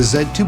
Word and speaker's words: Z2: at the Sony xeria Z2 tablet Verizon Edition now some people out there will call it the zed2 but here in America we pronounce our Z's with the Z so with that said